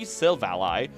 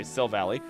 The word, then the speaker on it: Silvally: Aether Foundation, resulting in 3 Silvally, which is a weird way to say the name, but I believe that's the actual correct way to say it. I'm just going to say Silvally, who went rogue and